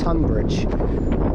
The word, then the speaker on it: Tonbridge: I keep saying Tonbridge, it's Tunbridge. It's really weird how you say it, because obviously Tunbridge Wells and Tonbridge, similar sounding.